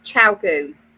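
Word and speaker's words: ChiaoGoo: I think they're pronounced Chiagoos. That's it, Chiagoos. Yes, it's Chiagoos.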